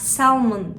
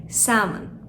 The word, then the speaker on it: salmon: Bunun okunuşunu daha önce duymadıysak salmon şeklinde söyleyebiliriz ama burada L harfi sessiz, yani salmon.